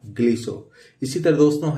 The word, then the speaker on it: Gleeson: और ये है ये ग और ये ग्ली, ग्लिसर, ग्लिसन, GLEESON, तो ग्लीसन। लेकिन इसको ग्लीसन नहीं पढ़ते, हम पढ़ते हैं इसको ग्लीसो। यहाँ पे N साइलेंट है तो हम क्या पढ़ेंगे, ग्लीसो।